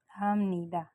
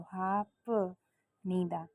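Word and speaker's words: 합니다: तो मैं यहाँ लिख रही हूँ हम नीदा, हम नीदा। तो यहाँ पर आप देखें तो हाफ नीदा, हम हाफ नीदा नहीं बोलेंगे, हाफ नीदा नो। फ और न मिल के म साउंड करते हैं, म बोलना होता है।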